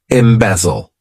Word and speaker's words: embezzle: is a good one embezzle to embezzle this verb has three syllables and the stress is on that second syllable M bezel what it